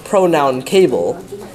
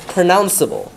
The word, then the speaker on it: pronounceable: and because of that it's not pronounced it's not pronoun pronoun cable it's pronounceable which is why you have to have the e for the soft c sound agreeable yes yes good